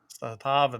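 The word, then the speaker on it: Zastava: He was using let's see if I can pronounce this right. The Zatava? Zatava, there you go.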